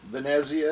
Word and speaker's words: Venezia: will start at venice venezia is the way they pronounce it in italian benaziah we land in venice